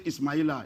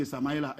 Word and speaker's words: Ismail: Yoruba say Samaila. Hausa say Samaila. They pronounce it that way. But the Arabic pronunciation is Ismail. Ismail. Which is also in the Christian Bible is Ishmael.